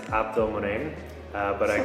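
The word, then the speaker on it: Abdelmone: Don't try to pronounce it. It's Abdul Mon. Uh, but I call Yeah. Abdul Mon.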